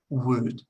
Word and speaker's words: would: Entonces, would. Hay otra palabra en inglés que se llama wood. Eso sería madera. Se pronuncia igual. Would. Would. La L no se pronuncia.